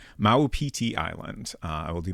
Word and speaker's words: Maupiti: Uh so presumably is correct on the pronunciation. Maueti Island.